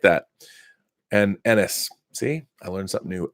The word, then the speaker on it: Ennis: Ennis is pronounced Ennis. Both said fast.